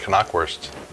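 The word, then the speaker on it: Knackwurst: found out a little sausage is called the Kanak worst in germany so there's a little bit of your world the pronunciation lesson the NIP expire and you see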